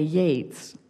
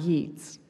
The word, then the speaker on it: Yeats: key I learned the Quay I've learned to pronounce this key as I knew to say Yeats not Yi's the clatter of wheels I craved was just